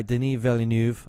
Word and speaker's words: Denis Villeneuve: new the new film it's being directed by denis villeneuve i believe is how you pronounce it so I'm sure a lot of